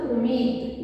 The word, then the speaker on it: امید: اگر آخری لفظ ہے امید، الف کے اوپر پیش، میم کے نیچے یہ زیر، یہ کے اوپر جزم، دال کے اوپر جزم، امید.